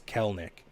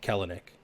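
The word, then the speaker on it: Kelenic: this jared kelnick um fun fact apparently that second e is isn't pronounced so it's kellnik instead of kellenick apparently that's what i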